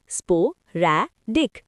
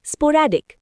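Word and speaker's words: sporadic: अगला वर्ड है स्पोरडिक। उम प्रोनाउंस करो। स्पोर रैडिक स्पोरडिक।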